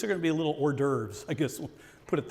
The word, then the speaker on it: hors d'oeuvre: It's funny because my mother always thought that was actually horse divorce. She would have people over, we're going to have horse divorce, and they would always chuckle, never say it in front of her, and us kids were like, Mom, it's hors d'oeuvre. Well, it's spelled like horse divorce.